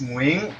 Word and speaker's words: Nguyen: Like the real way is Nguyen, but people cannot pronounce that.